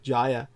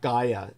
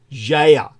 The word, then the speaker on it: Gaia: the way is not Gaia I say that because most people read it that way English speakers the correct pronunciation is Jaya Jaya like geography but like the original Greek pronunciation the original Atlantic would